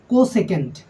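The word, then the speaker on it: cosec: এসই সি কসক কসক এটার বাংলা উচ্চারণ হবে এরকম কোসেক কস দন্ত স একার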